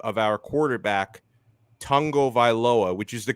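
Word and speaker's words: Tagovailoa: was pronouncing the last name of our quarterback tango viloa which is the correct way to pronounce it and this supposed dolphins fan was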